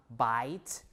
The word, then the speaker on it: bite: bite B to bite so the e at the end is the The Remnant right remnant of the shuah sound uh to show you that it's a long sound the long the long